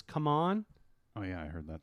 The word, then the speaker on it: CMON: It's no longer CMON, it's come on. Oh yeah, I heard that too. But I didn't realize it was pronounced come on.